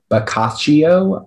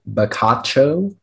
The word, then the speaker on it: bocaccio: all of the information uh the word is bokaccio also bakacho it's a noun it comes from italian it